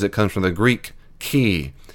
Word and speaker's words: chi: comes from the Greek chi. Chi, it's actually pronounced k, or key, is what we call that X-looking symbol.